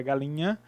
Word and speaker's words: galinha: Então, quando pronunciamos a palavra galinha, apesar de estar escrito duas letras, o NH, juntos, mas nós pronunciamos um único som.